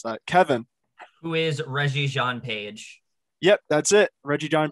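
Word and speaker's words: Regé-Jean Page: for season two and sorry if i missed pronounce that kevin who is reggie john page yep that's it reggie john pete all right uh let's do what's trending 600.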